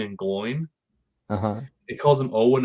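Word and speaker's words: Glóin: I think you of all people, Andy Serkis should know it's Oin and Gloin, not Owen and Glowin.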